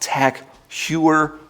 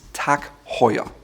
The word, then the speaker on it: Tag Heuer: Another watch brand with a German sounding name is Tag Heuer. It's not Tag Heuer or Tag Heuer, it's Tag Heuer.